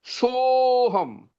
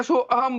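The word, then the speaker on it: सोहम्: उसमें, एस का आकार, तो उस आ का जब हम उच्चारण नहीं करते ना, जिस सोहम, हाँ हाँ हाँ उसका उच्चारण नहीं करेंगे हम। हाँ कई हाँ, लोग क्या करते हैं, सो अहम बोल जाते हैं। नहीं उसका उच्चारण नहीं होता है।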